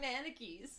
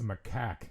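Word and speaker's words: macaque: Manakis.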